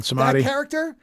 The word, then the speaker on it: Samedi: The Baron Samedi or Samdi. I'm not sure how you're supposed to pronounce it because I said it both ways in the movie. Okay, it's Baron Samedi.